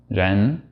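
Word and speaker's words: rén: It'll give you a nice authentic sound, and I think a lot of native English speakers tend to pronounce it too much like an English R.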